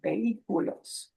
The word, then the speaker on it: vehículos: And we have to ignore the H, the H, vehículos.